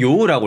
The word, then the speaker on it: 用: 음독으로는 요우라고 읽습니다.